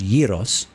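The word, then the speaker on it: gyros: is pronounced yeros.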